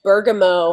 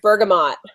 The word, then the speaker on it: bergamot: South and and also I've noticed you saying Bergamo I've never heard that I've always heard Bergamot so I've always heard Burg all day when you've said it I've said Burg I guess that's the fancy French I think you know